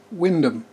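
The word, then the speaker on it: Wymondham: known beyond his local area of windham which is spelt w-y-m-o-n-d-h-a-m norfolk spelling's for you and the main reason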